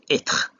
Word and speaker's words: être: And in this case, E with a grave accent is pronounced E. And the last example is the word être, which is beech, tree.